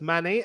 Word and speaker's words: Manny: pronounced my name correctly it's Manny as in manicure yeah yep so you